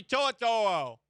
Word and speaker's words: To'o: Henry To'o.